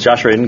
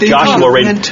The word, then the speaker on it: Joshua Radin: It's Josh Radin. Go ahead. Winter. Josh Radin's song. That makes you cry. Josh Radin's song, Winter. Actually, it's Joshua Radin.